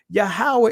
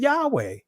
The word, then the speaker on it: Yahweh: and constant vowel structure so it's making it clear yahawah is more of an accurate pronunciation than Yahweh it says yahwah aderes more closely to the implied ancient Hebrew vowels and Conant vow structure and